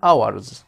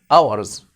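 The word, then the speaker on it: hours: اهو سليب فور فور اورز وطبعا احنا لسه قايلين ح الاتش بتاع ارز دي ايه سايلنت ما تنطقهاش ها سليب فور فور اورز اس ال اي اي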